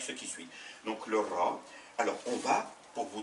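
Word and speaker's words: راء: La lettre s'appelle Ra et elle se prononce R.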